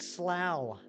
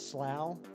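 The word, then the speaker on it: Slough: you call it Louisville there's a town in England called something pronounce it Kieran I will it's called slow come on now I am a huge office fan you think I don't know how to pronounce slow try harder next time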